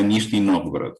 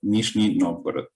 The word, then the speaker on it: Nizhny Novgorod: Sí, la ciudad donde vivo es un poco difícil de pronunciar para las personas que hablan solamente español o incluso si hablas inglés es difícil porque tiene un sonido particular, pero si lo pronunciamos en castellano sería Nizhny Novgorod. Nizhny Novgorod.